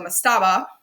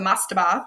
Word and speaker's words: mastaba: was what we call the mastaba or the mastaba you hear it pronounced both ways here's a diagram of